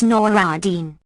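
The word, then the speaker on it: Nur al-Din: companion FN number 17 pronounce noradin I give the name written in Arabic FN number 18 amongst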